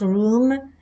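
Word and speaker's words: רום: Number 7311, taken away or room, as used in Daniel 8, 11, 12, and 13, pronounced room, means to exalt or to absorb.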